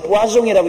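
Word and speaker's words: poisson: 여기 불란서 말로 포이즌은 보아종이라고 있는데 그것은 물고기란 말입니다. 물고기 잡지 마라 써놓은 것을 똑같은 다른데 영어로는 포이즌이라고 읽고 불란서로는 보아종이라고 있는데 영어는 독이란 말이고 불란서 말은 물고기란 말입니다.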